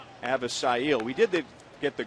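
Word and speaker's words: Avisail: So Avisale has become Avisil.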